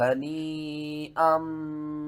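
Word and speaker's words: هنيئا: شَيْءٍ مِّنْهُ نَفْسًا فَكُلُوهُ هَنِيئًا مَرِيئًا، یہاں سے ہجے شروع کرتے ہیں، ہا زبر ہا، نون یا مد زیر نین، ہنی، حمزہ میم دو زبر ام، ہنی ام، میم زبر ما، را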